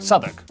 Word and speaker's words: Southwark: W at the start of the final syllable is silent. Norwich, Berwick, Southwark.